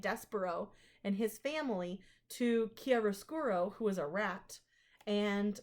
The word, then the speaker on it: chiaroscuro: the second is called chiaroscuro chiaroscuro it's with a k' sound it's Italian and then the third